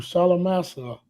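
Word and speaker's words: Shalmaneser: the time of Mm, Hosea, the king who Salamasa, that's how you pronounce that, the king of Assyria, led away mm.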